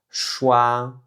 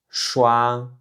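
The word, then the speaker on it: 刷: hua On a aussi le caractère qui veut dire brosser et qui se prononce shua shua shua Encore une fois ici c'est le premier ton.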